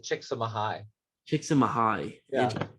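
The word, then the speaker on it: Csikszentmihalyi: name's season mihai so he actually pronounced it chick some high kicks in my high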